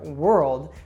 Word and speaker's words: world: at the word world this tends to be one of the most difficult ones for learners and basically you'll hear this sound which is very subtle or you might not even hear it at all if you're not accustomed to it it's a sound that occurs here in the back of the throat so it's oh oh